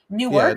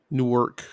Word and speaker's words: Newark: Newark n-e-w-a-r-k oh I'm I was always saying Newark which sounds like New York Newark Delaware I don't